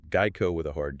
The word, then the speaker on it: Geico: And yes, make sure you're pronouncing that Geico with a hard G, right? Geico with a hard G.